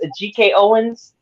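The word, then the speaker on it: Ajike Owens: how do we say her name is this a GK Owens yes a GK Owens yes I'm saying her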